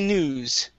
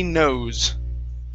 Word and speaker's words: knows: uh next is okay he he knews okay he knew the crazy things okay it would be nose he knows oh sorry uh if